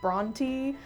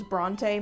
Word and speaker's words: Brontë: By the way, I only recently discovered that it's pronounced Bronty. fully believed it was Bronte my entire life.